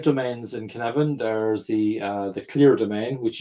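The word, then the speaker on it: Cynefin: It's a Welsh word, and because Dave Snowden is Welsh, and it's kind of pronounced Conevin. So it's kind of the Y from an English speaking point of view is kind of like a U, and the F is kind of like a V.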